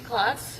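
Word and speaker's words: Klotz: Could you please uh state your name and spell it for the record? Good afternoon. My name is Clots.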